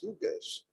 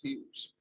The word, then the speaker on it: Hughes: I said, what is Hugues? I showed them the address. They said, it's not Hugues, it is Hughes.